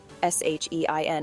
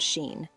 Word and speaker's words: Shein: Yes, Shein is pronounced Shein and not Sheen.